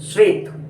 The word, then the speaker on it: श्वेत: White श्वेत, श्वेत श्वेत श्वेत, यहाँ पर तालव्य श है, उच्चारण में आपकी जीभ, आपकी जो जिह्वा है वो तालु को छूनी चाहिए, तालु का स्पर्श करे आपकी जिह्वा।